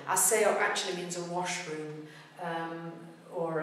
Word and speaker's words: aseo: of process in general, but aseo, the beat is on the e. What have we got here? We've got a three-syllable word. Even though it's only four letters, it's three syllables. A-se-o. Because e, o are both strong vowels. Beat is on the last but one syllable.